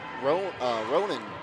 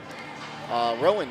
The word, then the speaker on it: Rowan: around, but like Galloway and Ronan, I believe is how you pronounce that. Let me check my pronunciation guide real quick. Rowan, yes.